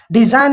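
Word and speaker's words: design: रिजाइन में जी जो है एन से पहले हैं तो रिजाइन, जी को साइलेंट रखा। डिजाइन में भी इसी तरह एन से पहले हैं जी तो जी को साइलेंट रखा।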